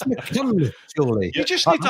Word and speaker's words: Machynlleth: Everyone goes through Machynlleth at some point, don't they?